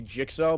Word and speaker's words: jyxo: pathetic right medically phonetically if you spell your name jyxo I'm pronouncing a Joe okay I'm getting word from the from the desk that it's actually jigsaw but I don't care I